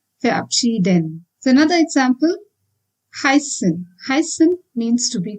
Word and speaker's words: heißen: But now the focus here is on heißen, that is EI. Since I is the landing letter here, we need to pronounce this as heißen. As you see, EI is pronounced as I. Heißen.